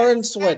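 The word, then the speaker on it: Corenswet: Corin Sweat.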